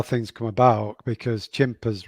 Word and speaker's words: Chimpers: We always wanted to build an experience, and it's strange how things come about because Chimpers rhymes with Timpers, and that's actually how it got the name Chimpers.